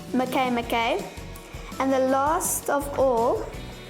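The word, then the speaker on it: Makemake: mccain mckay it spells make make but it's pronounced mckay mckay and the last of all cirrus scientists believe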